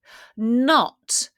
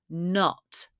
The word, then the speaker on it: knot: Not. We don't pronounce the K. It's a silent K. Not.